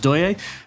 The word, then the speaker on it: Deye: familiar with the name d ye uh it's pronounced do this is supplied by voltex so it's the